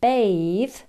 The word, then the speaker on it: bathe: Bath, the noun, has a long vowel sound, whereas bathe, the verb, uses a diphthong, a, bath, bathe.